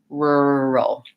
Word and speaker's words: rural: but if you do just work on breaking it down from her were rural that's my suggestion thank